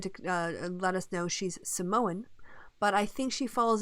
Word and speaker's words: Samoan: Or even Samoan, as you're supposed to pronounce it, apparently. Is it like Sam? Apparently that's how they do it.